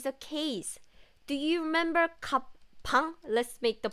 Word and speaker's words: 방: If it's used at the bottom of the letter, like 방, it's b, 방, then it has ng sound.